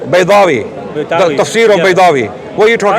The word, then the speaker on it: Baydawi: Imam Badawi. Who? Right. Baydawi.